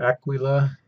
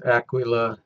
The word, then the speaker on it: Aquila: then down here is Aquila I'm pronouncing it as close as I can get to the way it's pronounced in Latin and Italian so Aquila will'll have to do